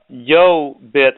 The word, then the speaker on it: YoBit: that we talked about yo bit is spelled yo as in yo yo and then bit as in Bitcoin so it's yo bit